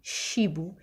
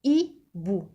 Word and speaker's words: hibou: Alors ici, hibou, je n'ai pas dit chibou, j'ai dit hibou. Le H, alors le H est une lettre muette. Ça veut dire qu'on ne la lit pas, qu'on ne la prononce pas.